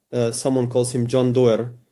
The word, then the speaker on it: Doerr: someone calls him John Doerr. It's written in English as D-O-E-R, I think, with a double R. I write Doerr, some say Doerr, well, it doesn't matter. John Doerr, you can say it like that, introduces OKR at Google.